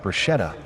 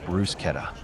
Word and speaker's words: bruschetta: Her party wanted to fine people around $100,000 for saying bruschetta instead of bruschetta.